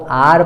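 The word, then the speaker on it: hour: हा से स्पेलिंग शुरू हो रही है इसलिए हर नहीं पढ़ना है उसको आर पढ़ना है हा यहां पे साइलेंट है बिल्कुल एकदम चुप है एकदम बिल्कुल बोल नहीं रहा है नेक्स्ट एग्जांपल ए जाता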